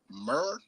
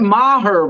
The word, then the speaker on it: Maher: Brett Murr with 2. Who the fuck is that? Brett Maher, bro.